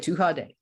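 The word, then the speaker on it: Tuatha Dé: this uh okay so the too hot the two hard day okay yes the two car day that's how you say it um i have lost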